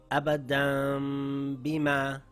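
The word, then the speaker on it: أبدا بما: I changed the Noon sound to a Meem sound coming through the nasal passage with my lips slightly open, holding it for two counts, ready to pronounce the next letter.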